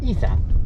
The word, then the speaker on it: Issah: But So- yours is pronounced Issah.